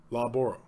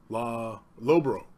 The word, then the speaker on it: Loughborough: Law or low? Dough? Because it's like dough with an L, right? So Lowborough. Right?